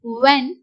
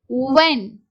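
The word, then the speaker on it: when: அங்க வந்து ஹச் வந்து silent for example what வென் ஒய் so what அப்படிங்கறது யு at what வென் யூ ஏ சோ இங்க எல்லாமே ஹச் வந்து சைலென்ட்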